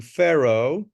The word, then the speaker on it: Pharaoh: of the young Pharaoh this is the correct pronunciation Pharaoh Tut Tut we know this in Spanish very